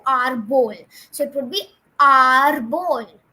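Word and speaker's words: árbol: Now again, tree is known as arbol, and again the accent mark, that slash accent mark would come on A to stretch the A to arbol.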